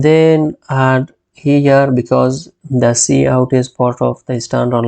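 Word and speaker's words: cout: this course then on line sequence we have c o u t which is pronounced as C out it is an object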